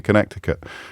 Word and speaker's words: Connecticut: Now I'm going to have to unpronounce it again because it's a silent C.